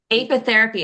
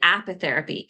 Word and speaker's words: apitherapy: AP how do you say it AP theapy apitherapy I was saying apitherapy apitherapy what exactly is that and then let's